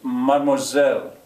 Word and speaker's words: mademoiselle: He says, salut, mademoiselle, after me, mademoiselle, mademoiselle.